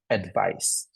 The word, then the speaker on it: advice: spelled with a c so when it's spelled with a c we kind of use the soft s advice which is a noun